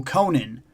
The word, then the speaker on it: Conan: Okay, I found out that E. Howard said it's pronounced akin to Ronin. So, Conan, neither of the two.